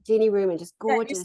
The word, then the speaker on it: Jeanne Ruman: And what's so beautiful about Jeanne Ruman, can you say her name again so I get it right? Yes, Jeanne Ruman. Jeanne Ruman, just gorgeous.